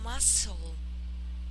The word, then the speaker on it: muscle: Muscle, Muscle. here it is like a muscle, muscle. Muscle. Yes, Muscle. not a sharp S. Pronounce it like a single S.